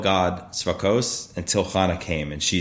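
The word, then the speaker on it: צבאות: So the name Tzvakos, we say, but it's spelled with an aleph, is that Lord of hosts.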